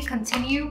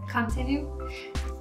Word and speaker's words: Continue: It's not really Continue, but it's Continue.